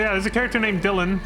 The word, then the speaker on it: Dylan: But yeah, there's two different spellings. There's D-Y-L-A-N and then there's D-I-L-L-O-N. Same pronunciation though.